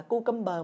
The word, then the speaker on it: cucumber: Dưa leo không đọc là cucumber mọi người nha. Đọc với Thủy ha. Cucumber. Cucumber. Âm k mọi người nha.